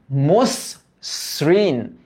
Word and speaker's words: মসৃণ: মসৃণ, মসৃণ, তার মানে এটার উচ্চারিত রূপ হবে মস। এই যে মস, তারপর হচ্ছে শ্রীন, মসৃণ। এই দেখো অয়ের উচ্চারণ ও এর মতো কেন হয়েছে বলতো? কারণ এরপর একটা রিকার আছে, রিকার। ওকে, শ্রাবণ, শ্রাবণ, এখানেও কিন্তু